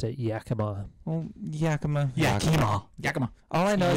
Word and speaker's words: Yakima: I believe most people pronounce it Yakima.